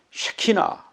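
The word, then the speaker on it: שכינה: 함께 계시는 것을 1단으로 히브리어로 뭐라 그러냐 하면 쉬 키나 영어로는 시카 이나 뭐 이렇게 발음합니다 많은 히브 식 바람은 시키나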